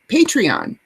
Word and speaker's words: Patreon: You started up your Patreon. Am I pronouncing it right?